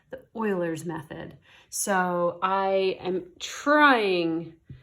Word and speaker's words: Euler: this there's this guy his last name was Euler even though he spelled it like this we just say it it's pronounced Euler even though it is spelled and